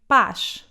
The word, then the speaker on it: paz: However, when it comes at the end of a word, it sounds like sh, as in paz, for example.